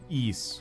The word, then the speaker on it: Ys: Pronounce it like geese, but with a Y instead of G. Yeah, I know it's supposed to be East, but if I do YS, everybody knows.